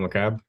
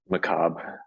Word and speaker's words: Macabre: I am pronouncing that right? Colonel Macabre? Macabre.